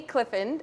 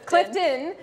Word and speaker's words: Clifton: i'm doing well thanks i think i just pronounced your last name wrong it's all good we talked about her dad's name is clifford her last name is clifton and clifford gets in